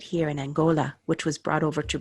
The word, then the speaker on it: Angola: Angola, where they have the hard G.